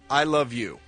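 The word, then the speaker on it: Isla Vue: Her two names are pronounced I love you.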